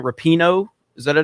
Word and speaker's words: Rapinoe: Rapinoe? Is that a name? I think that's the way you pronounce it.